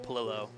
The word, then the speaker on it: Palo: you do say it my last name is pronounced Palo Palo yeah it's like a hard l Hold on I gotta